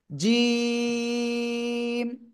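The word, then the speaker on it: جيم: যে অক্ষরটা, এই অক্ষরটা জিহ্বার মধ্যখান তার বরাবর উপরে তালুর সাথে লাগিয়ে এটা 3 আলিফ টানিয়া উচ্চারণ করতে হবে। জিম, জিম, এভাবে উচ্চারণ করতে হবে, ঠিক আছে?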